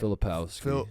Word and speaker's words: Filipowski: Filipowski.